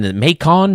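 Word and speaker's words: Macon: I kept coming in makon Mason makon you know and then they finally said it rhymes with bacon so I got it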